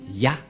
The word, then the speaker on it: Yah: Qu'on ne doit pas changer, car dès que vous voyez les formes Yod et He, vous le prononcez directement Ya.